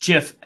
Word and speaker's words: GIF: like on Twitter yes as we all know it is pronounced jiff by the creator of the jiff that being said which